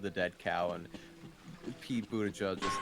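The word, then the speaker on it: Buttigieg: have any light yeah it's pronounced more like bootage or something like that right is it down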